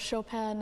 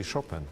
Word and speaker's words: Chopin: you know you know you even pronounce the name of the composer from very polish way we say chopin in polish not chopin like many people do in the world so it sounds polished